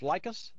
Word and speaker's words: Likis: L like us. You'll love us.